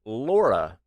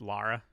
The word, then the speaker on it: Lara: not really question how do you guys americans pronounced laura croft i always hear laura when any american says it sorry to be